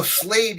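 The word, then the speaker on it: Slayed: Oh, Slade, yeah, because it's spelled S-L, like Slade. Right. Slade, yeah. S-L-A-Y-E-D, yeah.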